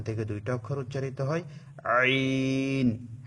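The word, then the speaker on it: ع: মাঝখান হতে ওখান থেকে দুইটা অক্ষর উচ্চারিত হয় আইন হা গলাকে একটু চিপে উচ্চারণ করতে হবে আইন হা আইন হা এভাবে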